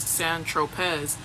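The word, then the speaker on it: Saint-Tropez: When you bought the eightball of C on St. Tropz, pronounced San Tropz, you didn't tell Mr.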